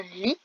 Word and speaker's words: lit: Un lit, n'oubliez pas le T muet de la fin que l'on peut retrouver dans le mot literie.